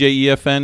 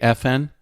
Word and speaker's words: EFN: Those of you who don't know who DJ E.F.N is, do not pronounce it DJ F.N. It's not FN radio.